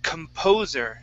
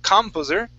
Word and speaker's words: composer: Okay, the word is composer. Instead of composer, stress is right here, composer.